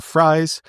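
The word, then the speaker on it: Fries: and my favorite signing is Right Guard will friy um you know my name is free it is spelled f r i s just like will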